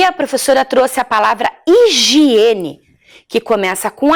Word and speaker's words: higiene: vou contar para vocês higiene tem o som de i porque o h nós não pronunciamos o som então e ela começa